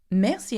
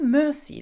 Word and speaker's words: merci: Thank you is merci. Merci, and not mercy, like I hear quite often.